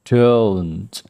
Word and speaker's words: don't: Do not bisa kita ringkas menjadi don't. Cara bacanya bisa kita baca don't. Ada bunyi t. Jangan lupakan bunyi t.